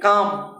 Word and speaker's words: calm: अब चलते काम, CA, यहाँ पर पी साइलेंट, वहाँ पर एल साइलेंट। यहाँ पर देखिए CALM, एल यहाँ साइलेंट है, काम पढ़ेंगे।